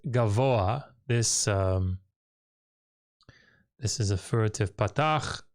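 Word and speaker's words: גָּבֹהַּ: You would expect that this pathak here would be pronounced after the hey, because that's how it normally works. But it's not. This is actually, you pronounce the gimel, then the comets, then the vav, then the cholam, then the patach, pathak, then the hey. So it's gavoa, gavoa. It's a furtive patach.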